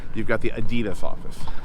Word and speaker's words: Adidas: Or before you correct me, and you want to use the original pronunciation or the correct pronunciation, we could call it Adidas, if that makes it better for you.